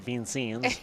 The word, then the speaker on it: Vincennes: Went up to Indiana Bowl at Vincennes, which I believe you Chris? went there too. I went to Bean Scenes. That's how they say it out there.